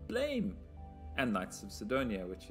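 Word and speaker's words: Blame!: Anyway, this is Nihei Tsutomu, Legend Who Brought You Blame, which is Blame. It can't be pronounced Blam, but everyone pronounces it Blam, but it's Blame.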